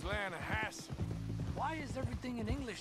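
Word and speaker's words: Lannahechee: The Lanahatchee. It runs right near here. Yeah, but it's pronounced Lanahassee.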